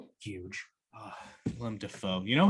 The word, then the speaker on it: Willem Dafoe: Willem Dafoe. You know his name is actually pronounced William Dafoe.